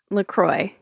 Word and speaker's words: LaCroix: LaCroix. LaCroix. LaCroix. LaCroix. Yeah. It rhymes with, well, this is confusing. Hmm. As the company says it rhymes with enjoy, then I would think it's LaCroix, not LaCroix, but it's saying LaCroix.